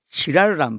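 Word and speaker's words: Girard: 르네 지라르라는 분이 있어요. 르네 지라를? 지라르. 지라르. 지라르. 뭐라? 이 발음을 다 사람들이 들으면 네, 그 이상하게 맞아.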